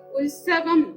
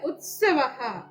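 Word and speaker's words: ഉത്സവഃ: ഇപ്പൊ ഉത്സവം എന്നാണ് നമ്മൾ മലയാളത്തിൽ പറയുന്നതെങ്കിൽ സംസ്കൃതത്തില് ഉത്സവഹ, ഉത്സവഹ അങ്ങനെ പറയണം. സായുടെ ഉച്ചാരണം അവിടെ വരണം, ഉത്സവഹ.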